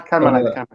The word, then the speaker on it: Carmelite: That's how you say it, Carmelite convent. Yeah, Carmelite.